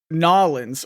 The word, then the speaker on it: New Orleans: loving it here in New Orleans and everyone's like oh you have to say noin or else people will know you're not from here and he's like I'm